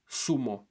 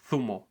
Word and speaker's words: sumo: In Latin America, these words would be pronounced zanahoria, sumo, panza, sum, zapato. Meanwhile, people in Spain would say zanahoria, thumo, panza, thum, zapato.